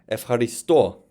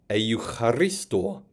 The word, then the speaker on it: ευχαριστώ: You can see that what was a diphthong, eu, has become F, pronounced like EF if you wrote it phonetically.